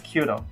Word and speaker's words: Qtum: probably may be pronouncing is Q them anyway it's called quantum and say won a